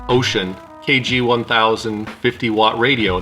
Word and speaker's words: Wouxun: did a video on the wookson pronounced ocean kg 1000 50 watt